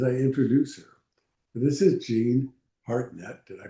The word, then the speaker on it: Jean Hartnett: This is Jean Hartnett. Did I pronounce it right, Jean?